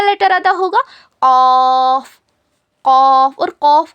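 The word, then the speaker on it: ق: जबान की जड़ को छोटी जबान के पीछे के हिस्से में लगाने पर ऑफ अदा होता है। इट is pronounced when the back portion of the tongue which is near to the throw touch the soft पैेट।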